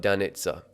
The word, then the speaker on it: Danit: it's been pronounced there it's not but danit it's an Eastern European name did you just mansplain